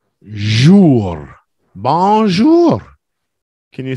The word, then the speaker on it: bonjour: popular they're quite famous bonjour yeah bonjour is the English pronunciation of a French word that's right bonjour that's how my dad